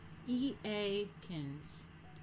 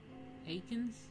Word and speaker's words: Eakins: E-A-Kins. E-A-Kins. How to pronounce. Aikens?